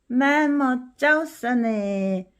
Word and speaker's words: แม่มดเจ้าเสน่ห์: ้ า เ ส น ่ ห ์ 매못 짜오싸네 매력적인 마녀. 그럼 우리 오늘 이제부터 할 드라마의 제목을 읽는 것으로 오늘 공부는 마치겠습니다. 이제 이런 단어도 읽을 수 있죠. 매못 짜오싸네, 매못 짜오싸네, 매못 짜오싸네, 매못 짜오싸네.